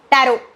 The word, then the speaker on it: tarot: Tarot. Tarot cards. Yes, it is correct. Tarot. Tarot is spelled as T-A-R-O.